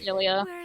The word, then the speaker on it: Xillia: I personally like Tales of Zillia 2, or Zillia, I don't know how you pronounce it. It's Xillia. Yeah, it's Zillia. Zillia. Okay, well, I pronounce Zillia.